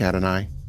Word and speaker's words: Adonai: Someone in chat says it rhymes with atomize almost. It's like an I rhyme. Okay. Adonai.